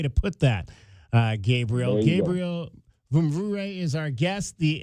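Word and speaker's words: Mvumvure: Gabriel Vumvure is our guest. The M is silent. It is spelled M-V-U-M-V-U-R-E, but the M is silent.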